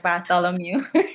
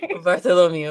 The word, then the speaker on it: Bartholomew: some reason I was having a hard time pronouncing Bartholomew. Is that right? Bartholomew. Bartholomew.